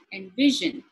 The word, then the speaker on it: envision: Likewise, if it is a verb, envision, vision, the v sound is stressed.